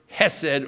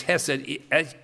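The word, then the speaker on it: חסד: And the word here, loving kindness, is the Hebrew word hesed, or someplace you could spell it chesed, C-H-E-S-E-D. It's hesed, H-E-S-E-D, hesed.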